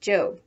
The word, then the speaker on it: Job: before going off to her job which in the bible is pronounced job remember that the one